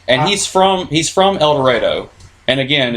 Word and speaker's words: El Dorado: he's from he's from El Dorado and again it's pronounced El Dorado I know it's about El Dorado yeah but that's how we say it you're just I don't